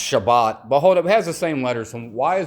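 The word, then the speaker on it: שבת: See, it says it's spelled S HBI, but Sabbath is pronounced Shabbat.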